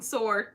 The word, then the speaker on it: sword: Leslie Brown, it bugs me when people pronounce the W in sword.